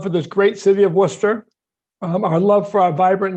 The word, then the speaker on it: Worcester: The first issue I should raise is that you need to know how to pronounce the name of the city. It's Worcester. You've got to get the Worcester accent just right.